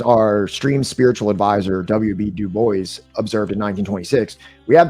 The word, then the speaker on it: Du Bois: Du Bois did not pronounce his name Dubois.